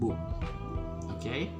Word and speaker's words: bu: it would be uh you could just say boo just get rid of the i okay so and boom okay it's a more